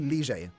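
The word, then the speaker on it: Lille: Which, by the way, lads, have you heard how they say Lie? We all say Lie, right? That's not how you say it, fam. It's like Rigi. Rige. It's technically Lige. That's how you should be saying it.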